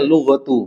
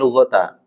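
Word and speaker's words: لغةُ: isimnya merfakkan apa khabarnya maka dibacanya lughatu bukan lghata karena dia isimnya apa eh khabarnya apa Anna ya Anna ha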